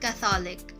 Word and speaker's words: catholic: longer pause or duration for example in the word catholic the first syllable is stressed kath notice that the accent